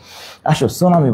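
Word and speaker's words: tsunami: কি নাইরে কোশ্চেন না সুনামি বান সুনামি বানানটা মনে রাখবে পি সুনামি কি বল সুনামিনা কি লিখবা পি সুনামি টি সুনামি টি সুনামি সুনামি টি সুনামি ওকে সুনামি হচ্ছে টি সুনামি নিউমোনিয়া হচ্ছে পি নিউমোনিয়া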